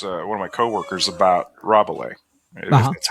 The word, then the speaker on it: Rabelais: I've been talking to this one of my coworkers about Rabelais. That's how you pronounce it, like the Gargantua and Pantagruel.